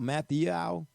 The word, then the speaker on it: Mathieu: pronouncing this right golly how would you pronounce the honey badgers last name Matthau Matthew Matthew Matthew Matthew oh thanks for clearing that up double J yeah double